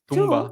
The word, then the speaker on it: tomb: tumba, like in Spanish, tomb, but it's spelled with an O. And why is the sound tomb? I said, it's the only word in English where the O sounds like a U.